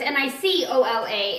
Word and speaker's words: Nikola: So it's Nicola instead of Nik. So you actually spelled Nikola like Nikola Tesla. So just so you know. And if you ever really have a problem remembering how to pronounce my name, just think of Nikola Tesla. Because we both pronounce it the same way.